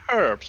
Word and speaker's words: herbs: the English anyway um herbs you say herbs because there's a H in it yes thank you Hunter